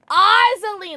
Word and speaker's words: Ozaline: Ozaline, like Wizard of Oz plus Coraline.